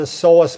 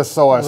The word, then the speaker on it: psoas: What is the psoas? Right. The psoas is one of those, it's like Psoas because it's spelled wrong. It's spelled with a P. P-S-O, yeah. It's like pus psychology.